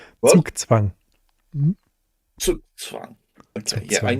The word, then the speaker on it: Zugzwang: I mean, the first one is interesting because, of course, it's pure Zugzwang, which, of course, I'm probably talking to a German.